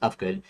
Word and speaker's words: Ufgood: And I mistakenly thought there was a silent H in there. I kept it because it makes it unique, and it's pronounced Ufgood.